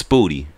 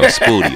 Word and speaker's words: Spooty: But after that, it's Spooty. Like booty, but with a P and an S in the front. So Spooty or Pootie Tang with an S in front.